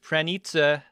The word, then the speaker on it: Pranica: strong Polish name that I learned as actually pronounced pranita uh in my polish family the ones who